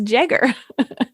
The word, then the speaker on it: Jagger: it is stephen jagger it's pronounced with the hard j he's taught this class